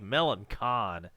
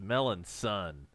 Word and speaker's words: Melancon: missed come on Melanson it looks like Melancon how is that pronounced melons son I'm not buying it I want to call him Melancon like DragonCon or the what is it the SyFy by maan con but it said it is melon son Prato